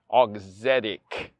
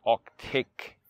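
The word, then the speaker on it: Auxetic: this oxetic all excited i keep missing that extra e over there auxitic not octake okay all right august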